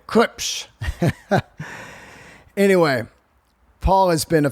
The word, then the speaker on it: Klipsch: And that's how you say it, by the way, Klipsch.